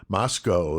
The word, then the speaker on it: Moscow: Moscow is how they pronounce it. I say Moscow.